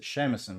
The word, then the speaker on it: shamisen: I pronounced it shamisen, but I'm not sure about the correct pronunciation.